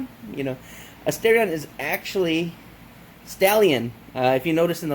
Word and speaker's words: Starion: In the Japanese language, there's no L, I guess you could say. There's no L sound, so they substitute the L's with R's. So it's it's actually pronounced Stalion.